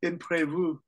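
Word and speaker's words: imprévu: this is the French it's imprevu which sounds like improve all right here here's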